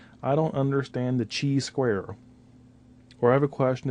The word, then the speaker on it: chi-square: test now first and foremost make sure you pronounce it correctly it is chi-square as an kite not Chi as in cheetah not a chi-square or chai as in chai tea it's not chai square it is Chi square so I've been in